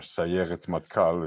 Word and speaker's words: Sayeret Matkal: And in 1976, Israel sent in the Sayeret Matkal, or Sayeret Matkal, if you pronounce it the way some Israelis, the way Hebrew is normally spoken, with the resh sound for the R.